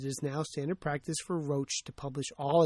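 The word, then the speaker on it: Roche: and the BMJ expressed concern to Roach, should be pronounced Roach, that eight of 10 treatment trials were unpublished and therefore unverifiable by the general medical community.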